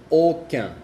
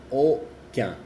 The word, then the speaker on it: aucun: La U y la N y la U y la M tienen la misma pronunciación que es un. Por ejemplo, un como un, uno, un. Lundi, que es lunes, lundi, lundi. Aucun, que es ninguno, aucun, aucun.